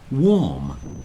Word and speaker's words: warm: the end we get warm it's not warm it's warm and it rhymes with storm these words with a